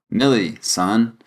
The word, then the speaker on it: Millison: This guy is Brad Millison on TikTok. This guy is Brad Millison on TikTok. Brad spelled like Brad and Millison, Millison. Millie, son.